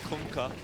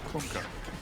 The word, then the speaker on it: Kunkka: That's how you pronounce it. You're welcome. Kunkka. Kunkka.